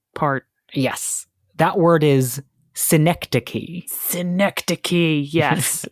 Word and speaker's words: synecdoche: That word is synecdoche. Synecdoche, yes. Spelled with a C-H-E.